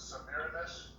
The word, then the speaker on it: Semiramis: The mother of Nimrod was Semiramis, or some pronounce it Semiramis, and she was an actual daughter, not a granddaughter, of Japheth, or Japheth.